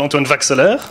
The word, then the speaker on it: Antoine Vaxelaire: called Antoine Vaxelaire. This is how we pronounce it.